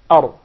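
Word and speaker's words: ر: So once again, the makhraj, or the origin of the Ra, it's articulated from the tip of the tongue with what lies opposite to it of the gums of the two front top incisors. Ar, ar, ar, without the repetition of the Ra.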